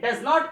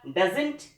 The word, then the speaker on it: doesn't: अगर हम बात करते हैं डज नॉट के कॉन्ट्रैक्टेड फॉर्म की, तो ये कहलाएगा डजंट या डजन।